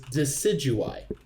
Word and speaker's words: Decidueye: figured out how to pronounce it if that's pronounced wrong okay I will help you it is decidueye decidueye decidueye I thought you're about to fight